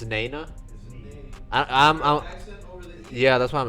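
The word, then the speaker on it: Née-Nah: Is it Nina? Whatever that shit is. Oh, it's Nana.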